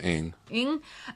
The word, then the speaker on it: Ng: How do you pronounce N and G together? I'm sure. sorry. Yeah. Somebody, Brian is the pronunciation expert. Yeah, I think it's Ing.